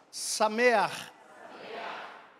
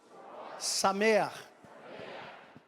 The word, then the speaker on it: Sameach: Hag Sukkot Sameach. É CH no fim, mas tem som de duplo R. Gutural. Hag Sukkot Sameach.